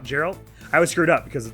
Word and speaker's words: Geralt: Well, no, but I'm pretty sure the way I remember it is that they definitely are pronounced differently, and Geralt, Three Houses, is clearly spelled with a J, so that's an easy one.